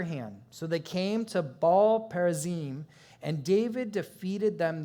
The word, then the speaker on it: Baal: Therefore, they named that place Baal or Baal Perazim. You can pronounce both. I'm going to say Baal there.